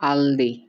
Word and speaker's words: Aldi: আলদি German উচ্চারণ হলো এটি জার্মান বহুজাতিক পরিবার মালিকানাধীন ডিসকাউন্ট